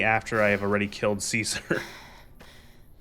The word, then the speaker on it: Caesar: You must be um It's not pronounced Kaiser. Why are you calling it Kaisar? Do you think it's um like Germans and Kaiser? No, you stupid. It's pronounced Caesar.